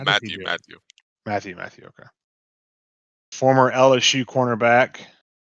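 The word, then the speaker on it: Mathieu: Is it Mathau or it's Matthew? I don't know. No, Matthew.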